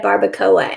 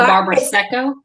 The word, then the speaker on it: Barbaresco: say it right, because I've been calling it a barbacoa, and that's not what it is. It's not it. There's an S in there. Yeah. I think it's a Barbaresco. It's a Barbaresco.